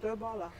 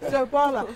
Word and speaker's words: Doe Balla: It's the first time it's been pronounced the right way. Doe Balla.